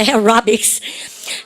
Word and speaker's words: aerobics: 에어로빅 그럼 틀려요. 대구 말입니다. aerobics. 발음 갖다 보세요. aerobics. 그 반드시 S 써야 돼요. 에어로빅 그러면 안 돼요. aerobic. 영어로 할 때 S 써야 됩니다. 발음 aerobics.